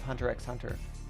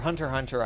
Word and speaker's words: Hunter x Hunter: It sounds to me like it reminds me of Hunter x Hunter. Or Hunter x Hunter, I guess is how it's said. I always say the X.